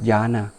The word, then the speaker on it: jhana: They pronounce similar, but they're not the same, okay? Jhana spelled like this, J-H-A-N-A, but jhana, J-N-A-N-A. Okay?